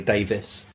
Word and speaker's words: Davies: I say Davies so people can spell it. With an E. It's actually Davis.